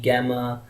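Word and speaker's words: gamma: Well, जो foreigners हैं वो तो उसको गामा कहते हैं, हम तकरीबन अब इसको सारे लोग ही गैमा ही कहते हैं, which is नॉट a good pronunciation. I recommended गामा।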